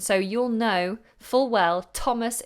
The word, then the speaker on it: Thomas: you'll know full well Thomas is pronounced with that strong T sound not a th you wouldn't believe how